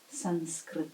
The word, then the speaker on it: Sanskrit: Say we're pronouncing it as an M here, but depending on position in a word, it will be melting into the next letter, next position, like in the word Sanskrit. As you see, we spell it with a special kind of N, not with an M.